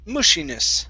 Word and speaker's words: mushiness: Okay, so what you're doing here, you're saying an oo sound. When you pronounce the oo, your lips are coming close together. You want to open up your mouth.